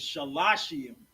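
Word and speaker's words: שלושים: But 30 is shalashium. Shalash is three, right? Shellashium is how you say three. Three sets of 10.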